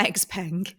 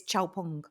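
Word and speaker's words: Xpeng: pronunciation issues Lou standing it's not X Pang it's ch pong yeah I I checked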